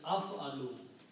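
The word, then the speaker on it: أَفْعَلُ: If we put an alif in the beginning with a fatha and pronounce as af'alu.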